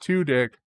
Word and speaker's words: Tudyk: bird of prey alan tudyk's last name is pronounced two dick like the klingons have two dicks you know